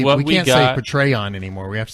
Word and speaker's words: Patreon: Apparently, I have been saying Patreon. Yeah. It's Patreon. Patreon. Like patrons, I guess. For eons.